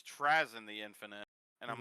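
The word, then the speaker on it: Trazyn: Yeah, it's Trazen. Yeah, apparently apparently I've been saying it wrong all this time. Apparently it's Trazen the Infinite and I'm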